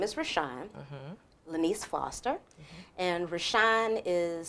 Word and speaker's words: Reshounn: The sound and pronunciation, Reshounn, Ra as in sun god, and Shine as in John, which to me was the little light before Jesus.